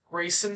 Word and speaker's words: Gracen: Grayson C on the left. Grayson C. Grayson is spelled Gracen. G-R-A. There's no Y.